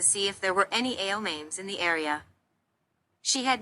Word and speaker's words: Aomame: for green peas and pronounced with the same 4 syllables, Aomame.